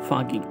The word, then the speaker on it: Fucking: German ভাষায় ফাকিং শব্দের কোনো অর্থ নেই, উচ্চারণ ফাগিং।